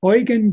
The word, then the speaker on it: Eugen: that was developed by Eugen Drewermann. His name is spelled Drewermann, D-R-E-W-E-R-M-A-N-N, and the first name is Eugen, like Eugene, without an E at the end.